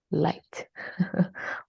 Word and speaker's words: light: isn't there at all it's very light without the harsh G right and number eight